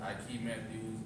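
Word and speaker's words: Aike Matthews: start off by saying your name because you spell it my name is I Matthews a i k e m a t t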